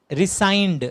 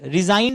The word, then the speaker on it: rescind: और कैंसिल का एक और नाम होता है रिसाइंड। रिजाइंड नहीं, रिजाइन मत कर देना, RESIGND।